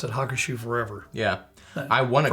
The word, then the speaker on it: Hakushu: You know a little bit about this one, and supposedly it's pronounced Hakushu. Oh, not Hakushu. Okay. No. Well, the U is more of a little like a slight Hakushu.